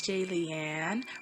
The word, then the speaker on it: Jillian: life yeah hey it's j leanne rhymes with alien like if you're a